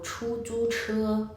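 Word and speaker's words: 出租车: 앞에 추 건설음인데요. 쭈는 건설음이 아니에요. 근데 다시 세 번째 단어는 츠라는 건설음 발음이 다시 납니다. 그래서 세 글자인데 첫 번째 글자랑 세 번째 글자는 건설음, 두 번째 글자는 건설음이 아닌 발음이 되는 거죠. 그러니까 혀를 굴렸다 뗐다 다시 굴려주셔야 돼요. 한번 들어보세요.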